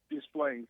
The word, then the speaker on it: Des Plaines: Let me get to Craig out of Des Plaines. Am I pronouncing it right? Des Plaines, Illinois? Des Plaines, Illinois.